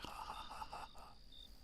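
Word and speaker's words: jajaja: I would say it cha cha cha cha cha, but they pronounce it ha ha ha ha ha. I love that because for years, literally years, I was like, the Spanish laugh with J's.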